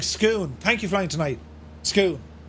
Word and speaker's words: Scone: this way Lads itty bitty Bridge yeah it's pronounced like scoon thank you flying tonight scoon yeah we're nearly